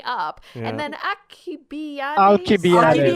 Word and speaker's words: Alcibiades: Alcibiades. That's how you pronounce Ali.